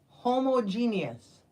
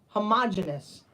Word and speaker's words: homogeneous: please how is it homogeneous H homogeneous homogenous a lot of people say homogeneous but it's homogeneous I got you let's